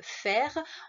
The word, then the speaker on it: faire: Alors attention, le verbe faire, on entend feu, mais ça s'écrit AI.